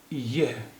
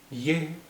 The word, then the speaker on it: ये: এই বাক্য পড়ুন, ইয়ে, ইয়ে, এটা লেখা হয়েছে ইয়া, লেখা হয়েছে ইয়া, কিন্তু এর উচ্চারণ হবে ইয়ে, ইয়ে, ये किसका, किसका घर, घर, घर है।